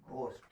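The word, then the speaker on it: ghost: और हम लोग जानते हैं कि जब GH किसी शब्द के प्रारंभ में या शुरू में आए, इसको हम लोग घ पढ़ते हैं। तो यहां पर इस GH को हम लोग क्या पढ़ेंगे? घ पढ़ेंगे। और इसका उच्चारण हमारा है क्या? घोष्ठ।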